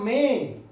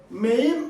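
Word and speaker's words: मैं: പോവുകയാണ് ആദ്യം നമുക്ക് തുടങ്ങാം മേ മേ ഈ വാക്ക് എഴുതിയിരിക്കുന്നത് മെയിം എന്നാണ് നമ്മൾ വായിക്കുക ശരിക്കും മലയാളി വായിക്കാം മെയിം എന്നാണ് അത് എഴുതിവെച്ചിരിക്കുന്നത് പക്ഷേ നമ്മൾ സംസാര ഭാഷയിൽ അങ്ങനെയല്ല ഉപയോഗിക്കുക മേ എന്ന് മാത്രം മേ എന്ന് മാത്രം ഉപയോഗിച്ചാൽ മതി ഞാൻ എന്നാണ് ആ വാക്കിന്റെ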